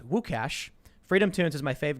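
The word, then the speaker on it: Łukasz: the way i believe luke is lucas in polish pronounced wukash freedom tunes is my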